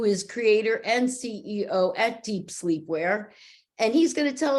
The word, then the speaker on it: Dep Slepwear: We pronounce that Dep Slepwear.